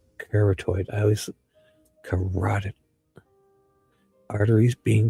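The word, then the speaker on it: carotid: And this is a result of both corottoid corateed arteries being breached. There's my this word tricks me every time. Cored like after I say it wrong I get it. Corateed. Cartoid.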